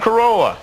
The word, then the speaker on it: Carolla: pronounce the last name it's the same as the car and uh Corolla Adam Carolla host of the guy